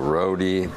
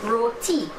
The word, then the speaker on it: roti: out it's perfect oh roadie dahi booty so someone commented natasha you need to teach him it's not roadie it's roti roti roti yeah do i